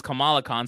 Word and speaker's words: Kamala Khan: First of all, her name is Kamala Khan, so you can take a Whatever. drink for getting that Kamala name wrong.